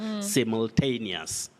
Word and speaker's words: simultaneous: You say simul. That U is not pronounced, simul. So you have that, what we call the cluster of consonant sounds, simultaneous.